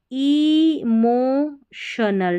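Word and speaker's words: emotional: एंड इमोशनल, टी आई ओ एन एल को शनल पढ़ते, इमोशनल, भावनाओं से जुड़ी, मैं,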